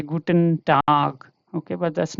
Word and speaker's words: Tag: So the G changes here to ka. Okay, so this sounds like this, you see, duck. This is like otherwise we will read it like as tag. Okay, but this is not tag, this is tag.